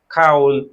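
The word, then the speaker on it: 겨울: ল, তাহলে কি হলো খিউল। শব্দের শুরুতে আসলে কি হবে উচ্চারণ চেঞ্জ হয়ে যাবে, গ কি হয়ে যাবে খ, তাহলে খিয় খিয়উল।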